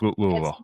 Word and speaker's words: Louisville: how do you pronounce Louisville? It's Louisville. If if you go to if you go to Louisville and you say Louisville, they will get on you for sure.